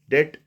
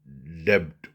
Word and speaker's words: debt: with the term debt debt or debt DBT debt it is pronounced and generally people call it debt debt means by Li liability for an assertain